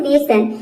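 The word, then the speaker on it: nation: कि यहां पे देखिए यह है नेशन इसमें एन को ना प्रोनाउंस करेंगे ए का हो जाएगा ए और टी को इसमें हम प्रोनाउंस नहीं करेंगे यहां पे टी आई ओ एन इसको एक साथ हम बोलेंगे सन इसमें जो आई का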